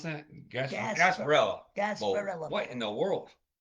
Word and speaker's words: Gasparilla: How do you pronounce that? Gasparilla.